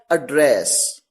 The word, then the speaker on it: address: तो जब एड्रेस को, जब इस पर्टिकुलर वर्ड ADDRESS को एज अ नाउन यूज किया जाएगा तो आप इसे प्रोनाउंस करेंगे एड्रेस, जिसका मतलब है पता। और जब इसे एज अ वर्ब प्रोनाउंस किया जाएगा तो इसे प्रोनाउंस करेंगे एड्रेस, जिसका मतलब है संबोधित करना।